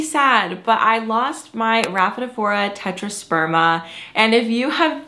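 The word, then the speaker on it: Rhaphidophora: I called it a raphadorpha I called it I actually I think that was my number one mispronunciation I called it a raphadorpha for a very long time maybe a year and then um I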